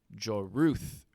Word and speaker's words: Joruus: The clone is Joruth Sabaoth, which is spelled Joruus.